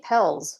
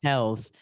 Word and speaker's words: Pelz: Mindy Pelz. Pelz.